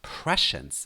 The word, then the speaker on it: prescience: So Let's talk about the word prescience with stress on the first part.